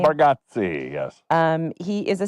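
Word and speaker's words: Bargatze: And Nate Bargotsi, is that how I say his name? Nate Barati.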